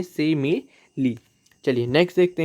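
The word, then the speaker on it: simile: वैसे ज़्यादातर लोग सही ही प्रोनाउंस करते हैं, लेकिन कुछ लोग स्माइल वगैरह बोलते हैं इसको, तो ऐसा ना करें, इंग्लिश के साथ अत्याचार ना करें और सही प्रोनाउंस करिए सिमिली।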